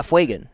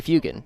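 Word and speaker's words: Fuegan: Yeah. Fuean. Um I hear a lot of people say Fugan.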